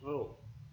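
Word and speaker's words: ρ: Ini bacanya adalah Rho.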